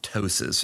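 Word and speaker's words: ptosis: and grade three uh droopiness or tosis and for people who don't know how to spell that it's actually p t s i s if you're looking it up but what's the difference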